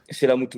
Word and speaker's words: Chellamootoo: et le nom, ça va, j'ai bien prononcé, Chelamuto. Chelamuto, ouais, avec 4 O.